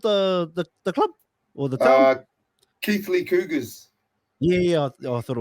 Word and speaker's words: Keighley: Keighley Cougars. Yeah, I thought it was something else. Keighley. The old Keighley Cougars. Keighley, that's what I was going to say, brother. After Keighley Cougars, man.